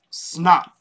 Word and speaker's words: $NOT: ever hearing about snot yep snot i said it right not a typo we got snot ladies